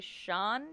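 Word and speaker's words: Cian: it up it's um i'm gonna say sean berry spelt c-i-a-n yeah that's probably a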